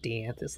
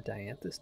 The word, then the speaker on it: dianthus: the the dianthus key i called it d'anthus last time and then while i was editing i looked up the pronunciation because i was curious i vaguely remember where the dianthus door was if you